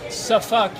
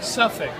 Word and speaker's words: Suffolk: Anyways, in dialectal American English, they might pronounce this Suffolk, but it is in fact pronounced Suffolk. Suffolk, you know? You kind of double pronounce the F. The F is exaggerated, accentuated, illuminated.